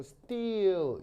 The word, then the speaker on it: steel: 이거 이 장모음 알겠어요? 스틸이 아니고 steel.